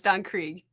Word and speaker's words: Don Krieg: Just so you know, it's Don Krieg.